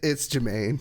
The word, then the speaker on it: Jermaine: Oh yeah, it's Jermaine.